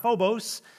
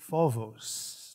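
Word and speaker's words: φόβος: problem with their pronunciation it is not phobos it is vovos did i get it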